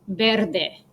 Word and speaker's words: verde: your examples right so when the v is followed by an a or an e it sounds like the soft sound so the color green is verde and cow in spanish is